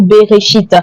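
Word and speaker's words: בראשית: Le premier mot de la Bible se dit en français au commencement, mais en hébreu se dit berchite. Voyez-vous ? Beréchite. Et voilà comment ça s'écrit beréchite.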